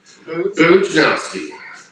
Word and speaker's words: Bujnowski: Bujnowski.